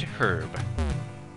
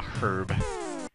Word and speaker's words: herb: bad prisons girl secret herb yeah I'm pronouncing it the way that the British people do a herb let's just keep going